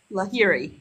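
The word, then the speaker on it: Laoghaire: Then that girl, how do you say her name? Long hair? No, not long hair. Is it Lahiri. La Lahiri. Lahiri? Hiri. Lahiri? Lahiri? Lahiri. Lahiri. Yes. Okay, Lahiri.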